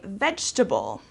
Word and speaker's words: vegetable: lasagna for dinner okay so here we don't pronounce every single syllable instead of saying vegetable